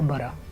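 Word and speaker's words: butter: आर आ की आवाज दे तो बन जाएगा बरा। बरा। राइट, बरा। इसी तरह सी यू डबल टी आर हो तो खरा। खरा। राइट, तो सर, फिटर हो ये जो बटर है इसको बरा, बस अगर आप प्रोनाउंस भी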